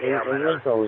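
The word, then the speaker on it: Ailunce: Olinco is how it's pronounced, I believe.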